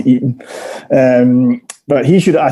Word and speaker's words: Itten: friday night so i'm not too sure whether it's eaten or written a swiss friend told me it was eaten um but he should